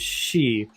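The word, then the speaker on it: 四: if I remember correctly the pronunciation for 4 in Japanese is XI which is the first syllable of the word Shinigami Oh death yeah okay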